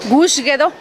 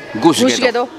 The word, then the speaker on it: Gadoo Gush: ¿Cómo es la pronunciación correcta en zapoteco? Gusguedo. Gusguedo. Que es Iglesia Vieja.